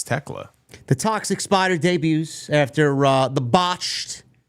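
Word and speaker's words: Thekla: Is it Tekla or Tekla? They said it on TV as Tekla. Tekla. So I assume it's Tekla.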